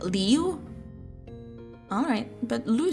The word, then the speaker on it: Liu: Is it Liu or Lou? How do you pronounce that? Jeff would rather play RuneScape all day instead of socializing. He does kind of sound like that. He gives me that impression. I'm going to pronounce it Liu. Or is it Lou? Lou sounds cooler, so I'll say Lou.